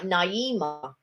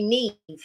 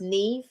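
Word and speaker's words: Niamh: i i read the name it looked like naimah but it was actually neve that that but it was it was spelt n-i-a-h-m or something like that but it was actually pronounced neve oh mark said i've seen a vlog in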